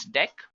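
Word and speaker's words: deque: it is written as DQ but we can pronounce this as deck not talking about deck what actually it is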